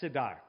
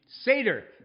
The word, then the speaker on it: Seder: For whom is a seat typically saved at a Siddur? I don't think I'm pronouncing that right. Seder.